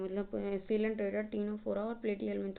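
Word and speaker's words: Ctenophora: टीनोफोरा मतलब सी silent रहता है।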